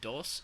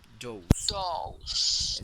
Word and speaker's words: dose: pronunciation of this one this is not dos this is Dos dose okay those you got